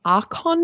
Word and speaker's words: Arkon: It's an Archon mount, which is spelled Arkon.